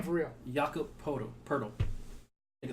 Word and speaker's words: Jakob Poeltl: Everyone that watches this knows the Spurs traded Kawhi Leonard and Danny Green to the Toronto Raptors for DeMar DeRozan and Jakob Poeltl.